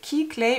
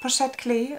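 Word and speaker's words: Pochette Clés: french word for key so basically key clay would be totally doubled up and unnecessary ki ki it's either porsche clay the french name or key pouch in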